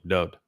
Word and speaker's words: Dowd: I can assure you that Yashai Isaiah knew how to spell and pronounce his name, Dowd. The wa in Dowd's name is pronounced just as it is in Yahweh's name, just as it is